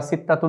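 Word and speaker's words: ستة: উচ্চারণ এখানে লিখেছি সিত্তা সিত্তাতুন শব্দটি আমরা লিখার সময় লিখব উচ্চারণে আমরা সিত্তাতুন না বলে সিতা বললেও হবে সিত্তাতুন ছয় বা সিত্তা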